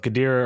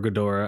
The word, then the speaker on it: Ghidorah: thought it was good people pronounce it both khadirah or ghidorah i used to say deer i feel i've heard gadira yeah so i think